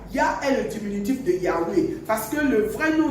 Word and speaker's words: Yahweh: architecte de tout l'univers, c'est en 4 consonnes, c'est-à-dire Y, H, W et H. Et dans la prononciation, ça fait Yahweh.